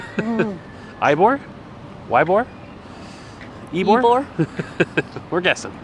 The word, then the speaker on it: Ybor: It What is is- called Ybor. Ybor is how to say it.